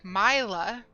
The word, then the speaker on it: Myla: My is pronounced with a hard I, not an E, because it's my, not me. So pronouncing something as Myla makes sense, and it also,